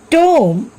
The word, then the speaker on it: tomb: Take some other examples like comb, climb, tomb, thumb, lamb. Here also B is silent.